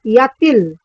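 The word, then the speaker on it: y a-t-il: It's pronounced as yatil. Again, the T is pronounced with the il as til.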